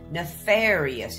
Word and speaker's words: nefarious: Nefarious is probably an old one since it was an old black and white movie. It's got four syllables, guys. Nɪˈfɛːɹɪ.əs.